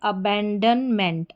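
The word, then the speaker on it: abandonment: बाद MENT मेंट जुड़ गया, तो ये पूरी स्पेलिंग क्या बन जाती है, अबैंडनमेंट।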